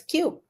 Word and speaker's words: Kiu: everything uh and if when you pronounce it it sounds like a little bit a little bit like Q like it's so cute so that's why the